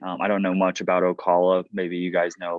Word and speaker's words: Ocala: It's pronounced Ocala. Ocala.